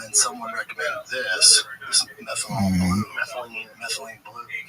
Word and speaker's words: methylene: I stumbled upon was it methanol blue? That's not how you say it. What is the actual methylene?